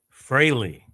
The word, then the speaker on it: Frehley: Fraley.